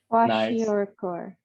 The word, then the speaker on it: kwashiorkor: Kwashiorkor.